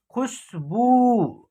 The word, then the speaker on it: खुशबू: तो देखिए इसका उच्चारण, ख में छोटी ऊ की मात्रा का प्रयोग हुआ है तो सिंपल तरीके से इसका उच्चारण करेंगे। देखिए खू, स है तो स का उच्चारण करेंगे। उसके बाद ब में क्या है, बड़ी ऊ की मात्रा का प्रयोग हुआ है तो इसका उच्चारण खींच करके होगा। देखिए खुशबू। ठीक है ना, इस प्रकार होगा, तो इसका उच्चारण होगा खुशबू।